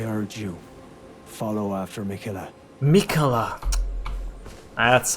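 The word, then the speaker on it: Miquella: in battle I urge you follow after Mika Mika that's how you say it mikola all right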